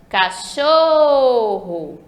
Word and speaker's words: cachorro: Então, quando eu chamo, vamos chamar o nome cachorro. Olha como eu demorei falando show, esticado assim, foi mais esticado. Então, a sílaba show é a sílaba tônica, a sílaba mais forte da palavra cachorro.